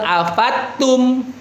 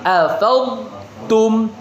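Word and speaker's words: أفضتم: Jadi bukan afattum tapi afadum afadum ya.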